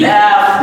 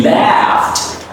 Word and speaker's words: laughed: So now you're going to pronounce final D as a soft T. It would be laughed.